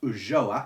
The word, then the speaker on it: Ulloa: And it is The House of Ula, or I have heard this pronounced Ulloa, it's spelled U-L-L-O-A, by Emilia Pardo Bazin,